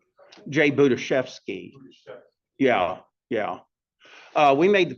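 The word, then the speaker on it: Budziszewski: Jay Budiashevsky.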